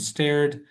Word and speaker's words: starred: Atkinson and Richard Curtis wrote and starred in the first Starred. starred, right? Yeah, they starred. Thank you. The strong R sound in that word. Yeah, star, exactly. It's not stare.